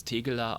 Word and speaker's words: Tegeler: It's Tegeler Audiomanufaktur. Tegeler. Mit Tegeler. I. Tegeler. Tegeler. Is that okay if I say Tegeler? Yeah, it's okay. Close enough. It's between I and E.